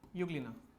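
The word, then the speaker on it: Euglena: करता जिसका नाम है युगल क्या नाम है यूग्लीना यूग्लीना इसे लोग ऐसे भी लिखते हैं सबके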